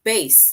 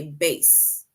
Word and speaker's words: bass: And this word bass, bass, right? The way we pronounce that word, it basically rhymes with case. So the way you say case, that is how you say bass, right?